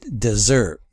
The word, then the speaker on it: dessert: the first syllable, and it shifts to after a double consonant, like desert, and then dessert. See the double S, and then that shifts the stress to the last syllables, like coral and corral.